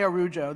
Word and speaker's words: Araujo: She said, just say Araujo the American way. You'll never get it right.